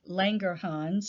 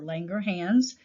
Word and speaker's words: Langerhans: in the isolate of langerhans or langerhans you can pronounce it either way and you will hear that the isolates of langerhans there's not enough insulin produced in type 1.